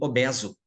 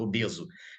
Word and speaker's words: obeso: Uma clássica né vendo esse é aberto lá do latim obeso então a pessoa obesa com o passar do tempo o uso Popular levou se aquilo é fosse pronunciar no erro é fechado obeso entende aqui obeso obeso